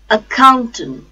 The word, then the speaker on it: accountant: AG accident accountant accountant a four syllable count second syllable and third syllable the stress is on second syllable count accountant count accountant achievement achievement